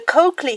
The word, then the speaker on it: Colclough: The Colclough family, yes, marvel at the pronunciation of this unusual name, but I'm reliably